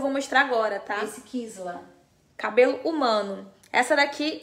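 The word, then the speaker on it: Kysla: Kisla o nome dela, tá? Se escreve K-Y-S-L-A. K-Y-S-L-A, Kisla, tá bom?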